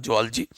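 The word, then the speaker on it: zoology: जुअलॉजी मतलब होता है जिसको आप जूलॉजी कहते हो, उसकी उसका प्रोनाउंसिएशन रियल में क्या होता है? जुअलॉजी।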